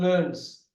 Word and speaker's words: learns: Learning and learns. Now, easy. Now, UK, how they say? How do they say in UK? Learns. That look at that R is silent here.